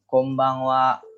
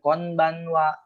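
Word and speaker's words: こんばんは: makanya dibaca m simbung Kombang Kombang Kombang Iya Kombang Wa Kombang Wa jadi jangan konbanwa ataupun ataupun Bang w on jangan kontak jadi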